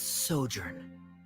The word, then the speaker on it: sojourn: story together well is everything clear associate pronounce this word let me see Ah that's sojourn it means to stay for a while this